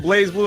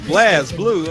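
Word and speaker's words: BlazBlue: other day was like Blaz Blue. I'm like, what the hell is a Blaz Blue? Like, no, it's Blaze. Just because the E ain't there don't mean you don't pronounce it right.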